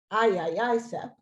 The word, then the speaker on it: IAICEP: As a first step, ICCEP launched the International Aerosol Injection Climate Engineering Project, the IAICEP, pronounced IAICEP, in 2052.